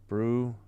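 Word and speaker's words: Brzustewicz: So you emphasize the second syllable. Bruce. Brewsteich. So the must be like the German V for W.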